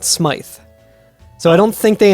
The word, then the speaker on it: Smyth: which is confusing because when that's a last name it's pronounced smythe so i don't think